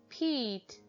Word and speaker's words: peat: The word pet changes to peat as the silent E makes the vowel say its name. E, p, eat, peat, pet, peat.